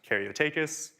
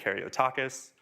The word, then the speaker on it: Karyotakis: So my last name is pronounced Karyotakis. Most people and most models will say Karyotakis.